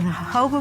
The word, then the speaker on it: jojoba: of the desert jojoba is spelled jo-jo ba but is pronounced according to its Spanish origins the hobo plant grows in the